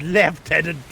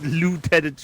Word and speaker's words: lieutenant: It It's left tenant. God damn it. Yes, it is left tenant. It's left tenant. Not lieutenant. You're not a tenant of a toilet.